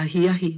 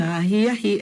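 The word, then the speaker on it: ahiahi: Okay, and then in the evening, like twilight, dusk time, we say aloha ahi ahi. Now make sure we're saying ahi ahi and not ahi ahi.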